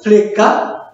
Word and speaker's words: flicka: We will pronounce it like flicka.